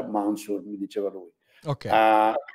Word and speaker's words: Mancur: Olson Olson il cognome il primo nome mancur però si pronuncia mansur mi diceva lui ok